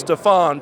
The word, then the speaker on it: Steven: While it's spelled Steven, it's Stefan.